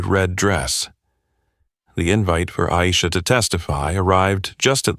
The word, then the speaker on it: Aisha: Madam Chair, my name is Aisha, pronounced Aisha, not Isa.